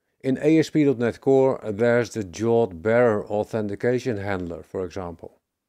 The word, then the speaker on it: JWT: JWT is the acronym, which is often pronounced as JAWT.